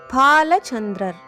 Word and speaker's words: பாலசந்திரர்: பாகம் பதினாறும் பெற்று பெருவாழ்வு பாலசந்திரர் அடுத்த பெயர் பாலசந்திரர் உச்சரிப்பை கவனிக்க வேண்டும் பாலசந்திர முதல் எழுத்து பாலை இப்பொழுது பாலசந்திரன் என்ற பெயர் நிறைய பேர் வைத்துக் கொள்கிறார்கள் என்ன அர்த்தம் என்று நினைத்து கொண்டு வைத்துக் கொள்கிறார்களோ தெரியவில்லை.